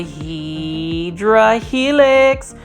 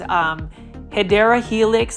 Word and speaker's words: Hedera helix: We've got a Hydra helix, or the correct way to say it is Hedera helix, the English ivy.